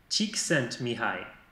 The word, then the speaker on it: Csikszentmihalyi: a même des vidéos qui nous expliquent comment prononcer ce mot-là. Mihai, Csikszentmihalyi.